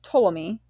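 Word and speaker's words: Ptolemy: His empire was divided between three generals one called Poleamy pronounced Tommy took control of Egypt.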